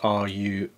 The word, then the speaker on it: Ruarch: It's from a company called Ruarch, I think that's how it's pronounced, R-U-A-R-C-H.